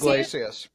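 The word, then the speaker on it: Yglesias: Iglesias.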